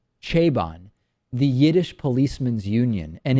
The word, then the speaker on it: Chabon: Michael I believe the the last name is pronounced chabon the Yiddish policeman's Union